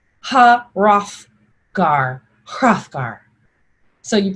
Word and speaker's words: Hrothgar: character you might find in beowulf you pronounce the h and the r so it sounds like ha rough gar hrothgar ha rothgar hrothgar so you pronounce every